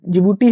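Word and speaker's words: Djibouti: होता है ठीक है ना डी साइलेंट रहता है बस इसमें खास बात इतना ही है कि जिबूटी है जिबूटी का ये बस याद रखिएगा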